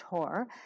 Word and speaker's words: Horr: has an unusual last name it's spelled h-o-r-r pronounced horror and when i've been going backwards tracking in